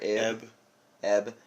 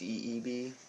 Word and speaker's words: Ib: That Ebe or Eb. Eb. It's actually pronounced Ebe, though. Okay. It's IB, but it's pronounced EEB.